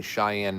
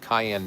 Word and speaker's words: Cheyenne: I said, "Okay, that and of course the clip of me mispronouncing Cheyenne Mountain, calling it Cayenne Mountain, and people roasting me for calling it a pepper."